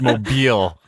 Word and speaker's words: Mobile: I also am keenly aware of everything from, some very specific mispronunciations. I get it. Mobile. I'm so clear on it. It's Mobile, Alabama.